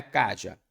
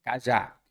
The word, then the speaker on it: cajá: já primeira sílaba tônica não é Kátia é cajá se é cajá a sílaba tônica é a última isso nos deu uma